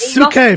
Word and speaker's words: Psyche: That Suki or Psyche was You could beautiful. say Psyche. Say it. Yeah, so she said It is Suke from now on, forever and forever.